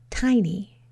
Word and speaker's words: tiny: 2 open syllables, tie and knee.